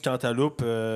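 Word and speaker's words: cantaloup: plus poussé mettons du quantaloupe ça va vraiment plus pousser-ce qu'on doit prononcer le P dans quantaloupe ouais quantalou tabarnac je pens c'est quantalou c'est quantalou mains levé P ou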